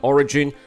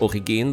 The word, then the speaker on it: Origin: Also, uh Origin, which should be pronounced Origine by the way, uh is of German ancestry just like Kruger as well.